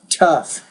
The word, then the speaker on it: tough: For example, in this case, we have that GH at the very end. It sounds like an F in that particular lesson.